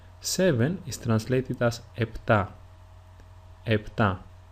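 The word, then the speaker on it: επτά: EPA is usually pronounced in two different ways. The first one is with a P sound like I pronounced it, EPA. And the second way is with an F sound or a F if you are in if you are Greek. That is FA.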